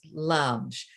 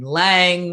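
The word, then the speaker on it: Lange: god mother mary elizabeth lunge now it's interesting because sometimes you hear people say her name lang or lunge once again cuban born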